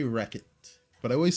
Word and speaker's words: Rechot: How do I pronounce my name? I say Wreckit, but I always say I can't hear you.